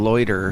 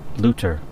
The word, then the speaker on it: Luter: Rhoda sends Pinarsky and Loiter. The technician's name is pronounced Luter, Jack. Potato. No one says potato, Jack. Her name is Luter.